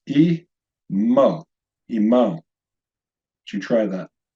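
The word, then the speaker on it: עמו: Third line, 2-syllable word, pronounced E. Mo. Notice here, this is one of 2 silent letters in Hebrew.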